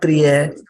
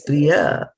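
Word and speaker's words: प्रिय: No, it's not priya. It's priya, right?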